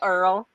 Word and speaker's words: Earle: he was pretty close it's Earl yeah like Earl New Jersey Earl Naval weapons station